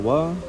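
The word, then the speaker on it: は: kata benda kesatu partikel wa kemudian kata benda kedua kemudian des. Nah, kata benda kesatu itu adalah subjek. Oke, subjek. subjek. Kemudian partikel wa itu hiragana H cuman dibacanya wa karena itu partikel.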